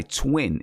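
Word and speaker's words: TWXXN: is called dopamine by twin and twin is spelled TW X X N and this is another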